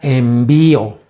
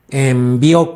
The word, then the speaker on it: envió: su voluntad número tres aquí puse la palabra envío envió no es envío envió con acento en la o quién te puede enviar